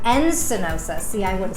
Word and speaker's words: Encinosa: So your last name is Encinosa. Encinosa.